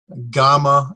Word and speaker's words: gamma: alpha beta as in gamma as in got it's a hard G sound like him gift Delta